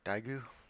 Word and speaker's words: Daegu: meet me in daegu i believe it's pronounced daigu anyways um last time